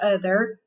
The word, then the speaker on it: other: about other uh er three sounds in other right okay the first sound and other is uh and normally the short u makes that sound or at the beginning of a word with that schwa sound is an a